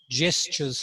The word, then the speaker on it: gestures: here it is hennis you need to work on gestures not gestures i know it's spelt that way but it's gestures like jam not gestures the way it's spelled okay thank you madam